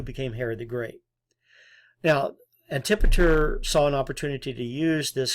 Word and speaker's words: Antipater: But there was another important player in all this, Antipater, or Antipator, as I've seen some pronounce his name, governor of Idumea.